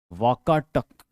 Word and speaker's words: वाकाटक: उस किंगडम को वाकाटक किंगडम कहते थे, वाकटक, या उसको उस समय वाकटक बोलते थे, लेकिन ये अंग्रेजी प्रोनाउंसिएशन में वाकाटक हो गया है।